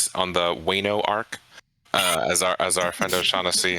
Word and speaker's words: Wano: It's pronounced Oceanassi. Moving on. Wano, Trailers.